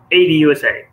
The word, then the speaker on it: ADUSA: ADUSA Supply Chain Services, or how do you pronounce that? ADUSA.